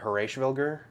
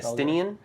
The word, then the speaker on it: Estinien: Yeah, you want to pronounce our next Dragoon? Our next Dragoon. Yeah, because... is it Horashvilger? It is not Horashvilger. Estinien?